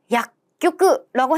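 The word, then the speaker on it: 薬局: 이때 주의하실게 작은 쭈라는 거. 약교끄라고 해서 여러분들도 외우실 때 확실히 외워 주시면 더 좋아요.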